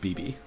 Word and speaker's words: BB: BB is pronounced BB. You know, like the sound that a little bird would make, like beep beep beep beep.